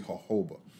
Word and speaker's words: jojoba: focus on the jojoba a lot of people um pronounce it jojoba but it's actually jojoba so as i said